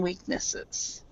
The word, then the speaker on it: weaknesses: French speakers everybody and it's that is actually swallowing the S at the end so so be sure to pronounce all the s's at the end ones strengths and weaknesses okay all right and